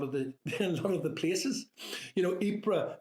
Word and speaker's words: Ypres: You know, Ypres, fine, I got that. It's not wipers.